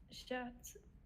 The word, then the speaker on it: chats: So we're not pronouncing the T, we're not pronouncing the S. So j'ai deux chats.